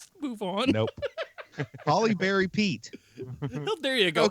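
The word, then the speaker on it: Halle Berry: gets Angelina Jolie right but haly Barry he screws up I don't know what did I say I said Haley Barry that's still wrong yeah that's not how you say that Holly Berry move on nope Holly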